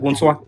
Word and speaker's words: Ogunswa: Am I pronouncing that right, Ogunswa? Yes, you're pronouncing it Ogunswa. correct.